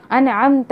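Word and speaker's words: أَنْعَمْتَ: हम पढ़ते हैं अनअमता, आप नाउज़ बिल्लाह वहाँ पढ़ दीजिए कि अनअमतु। एक तो आपने आइन प्रोनाउंस नहीं किया, दूसरा अनअमतु, अनअमतु, और ता के ऊपर वहाँ पे हरकत किसकी, ज़बर किए, और आप जो है वो पेश की हरकत पढ़ रही हैं।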